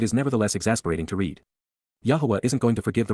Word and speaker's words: Yahowah: But instead, KY, at that time, AZ, simultaneously at that point, Yahowah, Yahowah, the proper pronunciation of the name of Eloah, God as directed in his Torah, teaching regarding his Haya